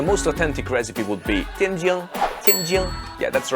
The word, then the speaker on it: Tianjin: The place in China where you would find the most authentic recipe would be Tianjin. Yeah, that's the right pronunciation.